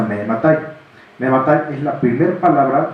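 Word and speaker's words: מאימתי: esa es una palabra en arameo que se pronuncia Mehematai.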